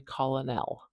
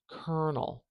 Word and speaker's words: colonel: we have the word kernel now this is a classic case of weird English spelling that does not translate we do not say colonell as you might expect kernel kernel this is a rank